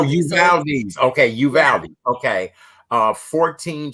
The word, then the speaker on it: Uvalde: So the U is silent. No, Uvalde. Oh, Uvalde.